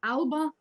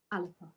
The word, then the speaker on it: Alba: our party name so if you're seeing it in English it's Alba which is what I use because I couldn't do good enough service to the beautiful language of Scottish Galla with the pronunciation as ala all right you made